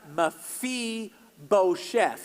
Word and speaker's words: Mephibosheth: man's name and it's mephibosheth everybody say mephibosheth on three and you pronounce it Mafi Beau Chef all right one two